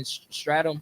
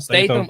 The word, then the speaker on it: Statham: Like, when you see how you say his last name, Jason Stratham. Is that how you say it? Statham. Statham.